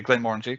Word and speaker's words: Glenmorangie: he walks in, goes, "Can I have a Glenmorangie?" And the barman, he said it right. Okay, Glenmorangie.